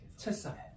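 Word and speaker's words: Cesare: 시저 , 이탈리아어 발음 으로 는 체사레 입니다 .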